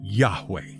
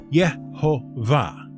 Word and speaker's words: Yahweh: of them are however most people agree to work with the pronunciation of Yahweh when the tetr is encountered unless of course you decide that those letters weren't pronounced that way and you want to do things your own way and so went with a more literal yova which thanks to latinization became Jehovah which is almost certainly entirely